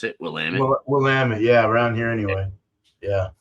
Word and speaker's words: Willamette: Is that how you pronounce it? Willamette? Willamette.